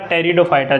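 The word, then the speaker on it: Pteridophyta: मैं बात करूं टेरिडोफाइटा अब आप यह मत कहना की सर यह पी क्यों ए गया और स्पेलिंग टे इस तरीके से आएगी और बोला टेरिडोफाइटा जाएगा इसको ठीक है आप हिंदी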